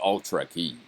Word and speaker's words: Ultra Key: It has to be pronounced Ultra key. Like Ultra Kill in the old Unreal Tournament games.